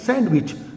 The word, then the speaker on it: sandwich: Wich because you pronounce sandwich that is wrong why I tell you s a n d w i c here we have to silence D is that clear so